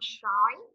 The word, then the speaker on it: sói: Con sói.